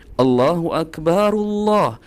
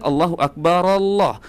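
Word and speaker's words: الله أكبر: Allahu Akbarullah. Allahu Akbaru. Ya, bukan Allahu Akbar Allah. Nah, harias di sini teman-teman membacanya dengan Allahu Akbar. Allahu Akbar. Ini salah teman-teman ya. Kecuali diwakaf, diputus teman-teman baru boleh membacanya seperti itu.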